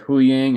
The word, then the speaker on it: Huyang: We get a scene which is, well, actually before that scene, Sabine is training with, is it Huyang? Is that how we pronounce it? Yep. She's training with Huyang, and he has these things that look like lightsaber hilts that he's holding on to.